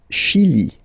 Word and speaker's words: Chili: Le Chili. Le Chili. Okay, remember, C-H, sh.